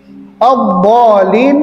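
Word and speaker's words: الضالين: magdubi alaiimad addolin itu mad lazim ya mutsaqqal kalimi Ya. Jadi ketika mad bertemu dengan tasydid, jadi di mad lazim itu panjangnya enam harakat. Walin. Jadi panjangnya en harakat. 1 2 3 4 5 6 baru masuk ke dad. Eh masuk ke lam gitu kan ya.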